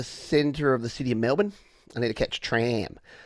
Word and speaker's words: Melbourne: to the city of Melbourne you have to pronounce it that way you can't can't pronounce it Melbourne because you'll instantly people will instantly know that you're a tourist and then the taxi